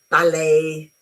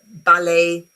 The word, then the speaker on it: ballet: Uh very often French words um like ballet, uh gouet, uh buffet, when they end with a t in English, you forget about the t and you put the sound a. Yeah. ballet, buffet, gourmet and etc.